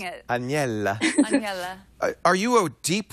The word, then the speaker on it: Aniela: Do you think you're I've never heard of I've never heard my name pronounced so correctly so many times. I like saying it. Anella.